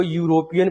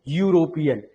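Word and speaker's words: European: ई के बाद डब्ल्यू आया है, तो इसको यूरोपियन पढ़ते हो, यूरोपियन।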